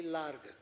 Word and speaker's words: lar: call it are slightly lar lar means large hearted we use some Portuguese word it's l a r g but pronounce as Lar so large hearted and